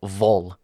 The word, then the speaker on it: Wall: Kim Wall or V as it's probably pronounced, right, Andy? Yeah, this is this is Sweden.